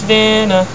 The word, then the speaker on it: Vanna: My name is Vanna. Rhymes with banana.